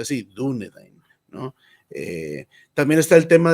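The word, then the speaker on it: Dúnedain: sí mismos dunedin hombres del oeste y se pronuncia así dunedin no también está el tema de los plurales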